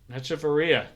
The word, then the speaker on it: Hechavarria: Hechavarria.